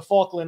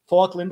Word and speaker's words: Falkland: Penguins well you're gonna see it in the fauland islands I said fauland Falkland Islands my what is it sound oh the